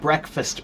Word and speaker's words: breakfast: If it means break fast, why don't we pronounce it that way?